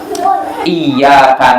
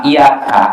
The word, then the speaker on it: iyyaka: Nah itu kalau ya-nya ditekan, dan ini yang benar. Tapi ada orang yang bacanya iyyaka na'budu wa iyyaka nasta'in, ini artinya fatal sekali, salah sekali. Karena kalau tanpa ditekan, iyaka artinya cahaya matahari.